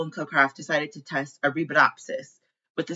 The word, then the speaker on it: Arabidopsis: Once I learn how to pronounce it, it'll be my favorite word ever. Favorite word ever, I'm sure. But it's Arabidopsis. Arabidopsis.